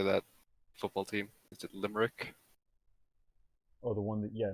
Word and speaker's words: Limerick: do you say that football team is it limerick oh the one that yeah limerick yes then um i heard i heard an